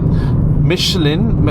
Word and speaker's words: Michelin: Michelins and it's a Michelin tree XM2 plus and energy XM2 plus eco tire range. It is also known that Michelin or Michelin, that's the pronunciation in French, does not produce the